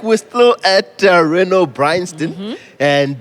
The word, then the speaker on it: Renault: It's Renault. How do you pronounce it? So it's written Renault, but it's pronounced Renault because it's French. Renault. You say it like a French.